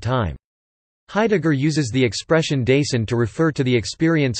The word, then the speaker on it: Dasein: Dasein, German pronunciation, Dasein, is a German word that means being there or presence.